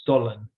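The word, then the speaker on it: Stollen: different than what we have here it's called stolen and I I'm not sure the spelling it's maybe it's s-t-o-l-n um but I mean it's pronounced stolen and you know it's a loaf um more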